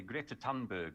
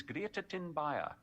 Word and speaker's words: Thunberg: Greta Thunberg, I wonder if anybody will actually know who I'm talking about, because she is universally mispronounced as Greta Thunberg.